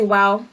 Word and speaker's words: wao: gonna go ahead and say wow sounds like sounds like English word w8w right Wow like Wow ah very similar um sound you know I mean it's build it smelled wao but pronounce it the same as well you know I